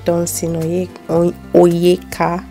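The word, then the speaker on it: Dunsin Oyekan: I love Nathaniel Bassi, Dunsin Oyeka, that's how you pronounce his name.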